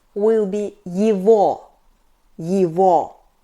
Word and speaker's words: его: "His", "its" will be его . Be attentive! We write "его", but we pronounce .